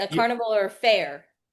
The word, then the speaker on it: Feher: Fair. Okay, here's what I go with. You know, like a carnival, right? A carnival or fair.